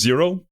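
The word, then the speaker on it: Xero: Oh, and kind of off topic, but if you're wondering what you're supposed to refer to me as, uh, my name is Zero, spelled with an X because I'm cool and edgy like that.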